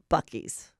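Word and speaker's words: Buc-ee's: So on our way in the Uber, we had the joy of stopping at Bucky's.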